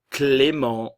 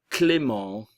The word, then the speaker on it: Clément: le U français, Théo, Clément, le T ne se prononce pas, le E et le N, ça sera le son nasal, en, Clément, Léo, Tom, Maxime, ok,